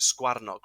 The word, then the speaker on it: sgyfarnog: So a hare in Welsh is a sgyfarnog, or as some people pronounce it, sgwarnog, right?